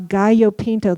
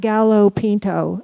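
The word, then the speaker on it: gallo pinto: We were feeling better and we ate a lot of gaopinto. This is not gallop pinto. Okay. So pronounce it correctly especially around me and Andy's mom who also speaks Spanish.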